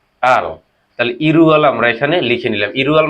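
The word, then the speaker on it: 일월: এপাশে একটি ল রয়েছে, দুটো ল একসাথে যখন হবে দুটো শব্দ, তখন কি হয়, সেটি উচ্চারণটা চেঞ্জ হয়। তাহলে কোরিয়াতে এটি কি হবে, ইল ওয়াল, এটি কি হবে, ইরুয়াল।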